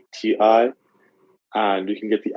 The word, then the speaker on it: Magti: And the SIM card provider, I'll definitely, it's called, see I'm pronouncing it right to make sure. Yeah, it's called Magti, Magti.